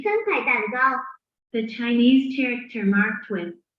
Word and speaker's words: 3块蛋糕: We pronounce it as. 3块蛋糕 Repeat after me for 2 times.